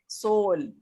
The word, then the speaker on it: soul: अब सोल में SOU 2 है ना, SO और U. Yes. तो U ने साइलेंट रहना है. सोल.